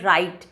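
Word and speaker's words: write: तो इसमें वही र साउंड जो हमने पढ़ा था, जो W साइलेंट होता है, उसके बाद जब जो साउंड प्रोड्यूस होता है एज इन the word राइट, तो वहाँ पे ये अप्रॉक्सीमेंट है.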